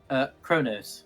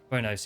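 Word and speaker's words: Qo'noS: No, I think in the shows it was Kronos. Yeah, I believe it was, yeah. Like, yeah, Quonos, but it's pronounced like KR.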